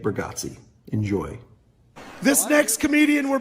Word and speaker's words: Bargatze: you say his last, how do you say his last name again? B. Nick Burggatsi.